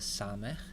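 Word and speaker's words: סמך: in the alphabet is the sama it's pronounced like in English s-sama you'll notice that here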